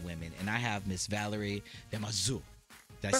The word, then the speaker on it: Valérie Damaseau: And I have Miss Valérie Damaseau.